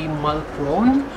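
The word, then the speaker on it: Mulchrone: But it spells M-U-L-C-H-R-O-N-E. So in like typical like American pronunciation, it would be Mulcrone.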